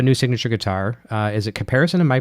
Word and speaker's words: Caparison: Is it Caparison? Am I pronouncing the name right? Caparison, yes.